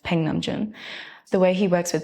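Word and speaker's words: Nam June Paik: Really, a lot of inspiration came from the Korean American artist Namjoon Paik, well, it's pronounced Peng Namjoon.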